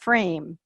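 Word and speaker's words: FRAYME: Travis Sztainert, who is the Knowledge Mobilization Specialist at FRAME, that is spelled F-R-A-Y-M-E, in Ottawa, Ontario, Canada.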